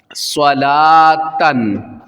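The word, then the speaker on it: صلوٰةً: لام کھڑا زبر لا، لام واو نہیں پڑھیں گے بلکہ صرف لام کھڑا زبر لا، صلا، تا دو زبر تن، صلاتن۔ اچھا دیکھیں گولتا آ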